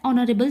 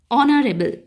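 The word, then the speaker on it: honourable: হার মতো হচ্ছে না এইচ এর উচ্চারণটা হচ্ছে অনারেবল অর্থাৎ অর মতো হচ্ছে ভায়েলের মত হচ্ছে তাই এখানে বুঝবেন মিস্টার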